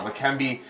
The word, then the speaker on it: Leqembi: And joining us for a bit more about the drug Leqembi, I don't know if I'm pronouncing that correct. You got here. it, yeah. Leqembi, Dr.